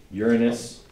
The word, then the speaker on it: Uranus: about 8% Jupiter about 5% Saturn about 5% Uranus that's how you say it we talked about